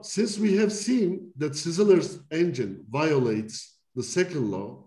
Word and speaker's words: Szilard: I could never pronounce this name properly. I guess it's Sizzler or something in Hungarian.